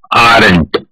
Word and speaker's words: aren't: ये दोनों वर्ड को मिक्स करके बनता है aren't. पढ़ने में आर और नॉट अलग है और कॉन्ट्रैक्टेड वर्जन का प्रोनाउंसिएशन यानी कि उसका उच्चारण भी अलग है.